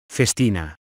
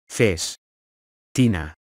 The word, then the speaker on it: Festina: watch conglomerate so how do you go about pronouncing it Festina face Tina Festina I hope this video was useful if you